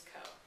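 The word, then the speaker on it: Coe: me his name is co the drag lady snorts from her nearby bench as an accompany i ask as in c-o-e spelled like toe and hoe the garden kind not the promiscuous kind it's my mother's name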